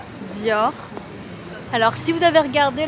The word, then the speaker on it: Dior: mais c'est trop beau bien sûr l'irremplaçable Dior prononciation des marques de luxe Louis buitton Dior alors si vous avez regardé la série Lupin